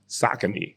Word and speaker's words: Saucony: OGs that brought up the Pro Kids, them Saucony joints that I didn't know had a nice little play. I didn't know Saucony had basketball sneakers. Yeah, it's funny because it's actually Saucony.